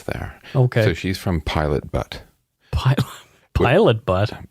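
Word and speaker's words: Pilot Butte: going to focus there okay so she's from Pilot butt pilot pilot butt b u tte okay pilot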